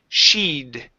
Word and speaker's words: she'd: one is the word she'd okay adding this ED ending here or not ed ending but the apostrophe D so it's she'd sit good and she'd been in mrs.